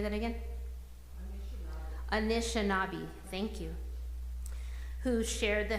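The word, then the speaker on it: Anishinaabe: it how do you say that again Anish anishinabi thank you who shared the Helena Valley as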